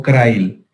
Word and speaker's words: Crile: nombre de pinza tipo Crail. Crail se escribe y se dice, se escribe Crile.